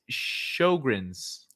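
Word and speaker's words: Sjögren's: is an amazing coincidence it's pronounced as shogren's oh shogren's thank you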